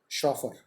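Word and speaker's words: chauffeur: हो सकते हैं, चॉप, CHOP, चॉप, काटना, ऐसी शॉफर, ऑलराइट।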